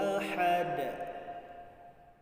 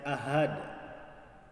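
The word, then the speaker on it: أحد: Qul huwallahu ahad. Qul huwallahu ahad. Jangan sampai kita membaca ahad. Ahad hanya ditukar. Hanya yang benar adalah ha pedas, bukan ha besar, tetapi ha pedas.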